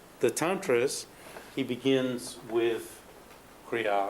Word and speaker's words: Kriya: And when Long-chen-pa presents the Tantras, he begins with Kriya, or Jia, as it's mispronounced, because the Sanskrit comes across as, and it's mispronounced in Tibetan as Jia.